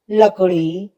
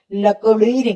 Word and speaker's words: लकड़ी: आता है जैसे लड़का लकड़ी लड़की ककड़ी घोड़ी मोड़ जोड़ पेड़ इन सभी देखिए ड के नीचे बिंदु लगा है इसलिए हम लडका नहीं कहेंगे लड़का कहेंगे लकड़ी कहेंगे लकडी नहीं कहेंगे इसी तरह ड और